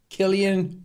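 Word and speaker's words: Cillian: that in the filmic lens I really like Killian Murphy a lot yeah that's how you pronounce his name Killian morphe because I heard some people the other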